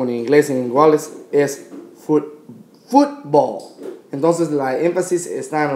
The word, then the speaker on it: fútbol: Entonces, estamos poniendo más énfasis en la U aquí. Entonces es fútbol, no fútbol.